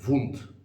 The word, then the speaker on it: wound: mispronounce the word and instead of saying one syllable they say two so instead of saying